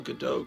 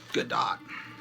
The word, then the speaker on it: Gadot: wonder woman galaga dot i want to call her gal gadot because it looks like bardot but apparently it's pronounced good dot uh you know i